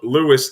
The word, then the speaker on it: Lewes: Did you go to, was it Lewes? Is that how you pronounce it? I couldn't, every time I was on the air in Delaware, I would butcher stuff. So that's Lewis, Delaware, There you go.